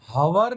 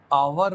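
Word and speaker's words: hour: इसमें भले ही पहला लेटर एच हो, पर हम हवर नहीं बोलते हैं, हम आवर बोलते हैं। बोला दूसरे लेटर से जाता है। ये एच है ना, वो साइलेंट है, लिखा जाता है पर बोला नहीं जाता।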